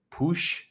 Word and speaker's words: Puig: system um ricky puig ricky push i think is the catalonian way of saying it i'll probably just go with peak so i don't mispronunciate